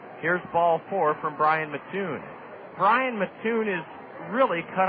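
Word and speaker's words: Matoon: one for four here's Ball Four from Brian Mattoon Brian Mattoon is really cut out of the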